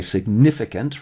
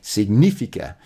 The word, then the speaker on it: significa: And so I was saying significa, but it's significa because the rule of when the word ends with a vowel means, unless there's a tilde to tell you otherwise, it's going to be have the emphasis on the second to last syllable.